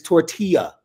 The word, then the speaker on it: tortilla: show is that indeed the pronunciation of that little flowery thing or corn thing that they were throwing on the field and up in the air down in Lubbock, Texas is tortilla.